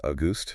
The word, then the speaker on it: Auguste: Pronounced August.